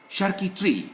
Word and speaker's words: charcuterie: Chérie, there is an accent, that's why I pronounce it. There is accent aigu. Chérie. Charcuterie, not charcuterie.